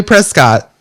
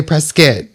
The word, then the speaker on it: Prescott: Even though it's spelled Even though it's Prescott. P E S C O T T. It's definitely Prescott. But they say Prescuit.